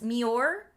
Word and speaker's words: Muir: Like the muer woods. Yes. Mure. M. It's in Scotland. It's pronounced mure.